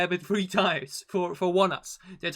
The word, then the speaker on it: ONEUS: and unfortunately that it three times for for one us that's how we pronounce it by the way when i first